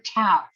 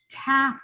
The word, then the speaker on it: teff: You Is know, it teff or taf? teff, I think is how they pronounce it, but it's spelled T-E-F-F.